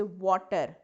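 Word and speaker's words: water: अगर आप वाटर को वाटर बोले यानी वी की तरह प्रोनाउंस करें तो आपकी प्रोनंसिएशन ठीक नहीं रहती। आप वाटर को क्या कर देंगे? बटर कर देंगे।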